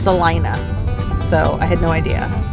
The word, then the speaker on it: Salina: now in salina kansas i've been calling it selena this whole time so is blake but then we watched a video about this record place we're going to and it is pronounced celina so i had no idea but we're now